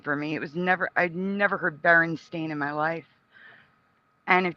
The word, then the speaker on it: Berenstain: like physically upset when I saw JCPenney and Berenstein Bears, because it was always Berenstein for me. I'd never heard Berenstain in my life.